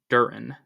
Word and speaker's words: Duren: realized he's averaging more rebounds than points but Duran or durran I don't know how to say his name for some reason that's giving me issue but it Duren okay thank you uh basketball reference Duren is